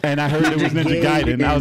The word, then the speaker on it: Ninja Gaiden: and I heard it was Ninja Gaiden, I was like, okay, I Well, you accept threw an that.